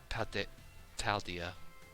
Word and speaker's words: Paldea: Now, any of you heard of the 10 sites of Paldea? I said it right. I didn't say Pandera bread this time.